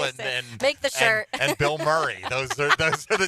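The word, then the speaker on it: Bilmuri: There's also another band called Bill Murray, but it's spelled B I L M U R I.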